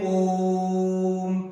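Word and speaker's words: ओम्: करते हैं तो देखो ओ को हम लंबा खींचते हैं ओम तो ये ओ है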